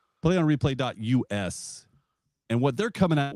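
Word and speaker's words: Plaion Replai: It's I got a funny way they spell it, but it's called uh uh a play on replay. Okay? P L A I O N replay is R E P L A I.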